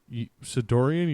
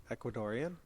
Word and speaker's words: Ecuadorian: pronounce Embassy in London e c u a d o r e a n Ecuadorian the Ecuadorian thank you is that Ecuadorian it's Ecuadorian thank you for making